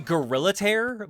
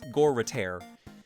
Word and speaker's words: Goritaire: I keep expecting it to be Gorillataire, but it's Goritaire.